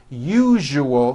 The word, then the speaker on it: usual: to pronounce the word usual correctly break it up into three syllables you jus oh that second syllable jus the one with the underline needs to be voiced put your hand on